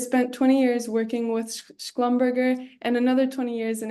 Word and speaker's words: Schlumberger: think you did it fine, but I would pronounce Schlumberger, not Schlumberger. You've Oh, given it a German pronunciation, but mm, they're a bit French on that part.